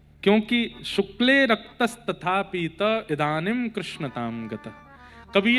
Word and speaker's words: कृष्ण: कृष्ण, इस शब्द का उच्चारण कई लोग शुद्ध नहीं करते, क्योंकि शुद्ध कर लेंगे तो फिर भगवत प्राप्ति हो जाएगी। इसलिए सब लोग इस नाम को, कोई किशन बोलता है, कोई कृष्ण बोलता है, कोई कुछ बोलता है,